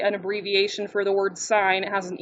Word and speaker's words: sine: sine cos and tan if you ever call this sin people will laugh at you so we say sign okay make sense we